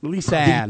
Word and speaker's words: Lisanne: How do you pronounce that? Oh, I was just saying Lisanne. Lisanne, there we go.